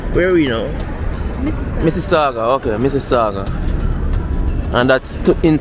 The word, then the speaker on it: Mississauga: How you pronounce? Where are we now? Mississauga.